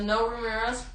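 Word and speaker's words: Noé Ramírez: and you pronounce it it's spelled n o e and then Ramirez so no Ramirez we don't there's no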